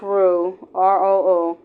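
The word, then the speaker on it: roux: They make felt with begin with a r o or r o r o u x or pronounced r o.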